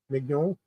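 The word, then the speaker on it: Meugniot: Meugnot. That's the way I would pronounce it anyway.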